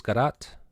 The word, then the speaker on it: Garat: with us today, Jules Garat. Did I pronounce that correct? Jules, Jules. You pronounce it Jules. Okay. Garat is Chilean, and you both met in correct, Chile.